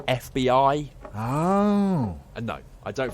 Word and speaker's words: FBI: Phoebe? Yeah. For the last time, Matt, it's pronounced FBI.